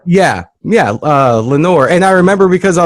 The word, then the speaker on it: Lenore: It was Lenore. God, you're actually dead on. You're 100% right, by the way. Yeah. Because Eleanor, I know, is chamber door. It rhymes with chamber door. Yeah, Lenore.